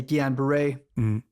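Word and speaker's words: Guillain-Barré: to Ms or even talk about let's say Guan Beret am might pronouncing correctly right yeah very good all right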